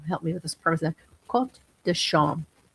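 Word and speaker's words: Quarts de Chaume: Quot dasham. Court spelled like court, like a quart of milk. It's spelled court dasham. C h a u m e.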